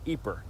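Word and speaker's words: Ieper: you're more likely to find it spelled i-e-p-e-r pronounced eeper of course the British soldiers who fought here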